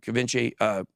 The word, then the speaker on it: Givenchy: I like Givenchy is how you say it.